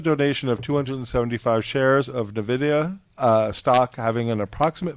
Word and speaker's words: Nvidia: Nvidia, a stock having an approximate value of $50,000 to the village of Rybrook for the AP community senior center and programs.